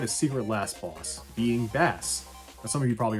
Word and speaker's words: Bass: But I called him Bass as a kid because that's how it's spelled. The musical references didn't mean anything to me at the time.